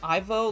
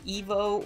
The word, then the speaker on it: Ivo: but uh we'll see how do you pronounce eggman's first name Ivo like Evo or the right way Ivo that's incorrect IO I thought I thought it was Ivo Robotnik isn't that how they always say it is that how